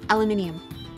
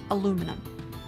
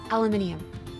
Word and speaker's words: aluminium: country say solder it's not solda the L is silent yeah and it's aluminium not aluminum it's aluminium hi be Master do you like bolet bib